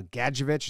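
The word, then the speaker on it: Gadjovich: open for some overhead overhand punches from uh gadgeovich is how you say it and look at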